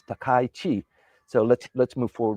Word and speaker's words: Takaichi: So, many people say it's Takai and it's not Takichi, it's Takai Chi. Takai. So if you can pronounce that well when you're you're talking about